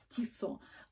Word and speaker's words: Tissot: целых трое и часики tissot спасибо огромное кто мне подписал что читать не читается последняя буква т это швейцарские часы и